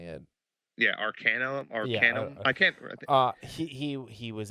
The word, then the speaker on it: Arcanum: Because he was able to get his Arcana. Is that how you say it? Yeah, Arcanum.